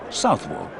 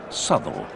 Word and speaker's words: Southwell: Incidentally, people who live here call the place Southwell. It's only outsiders and the racing fraternity who pronounce it Southwell.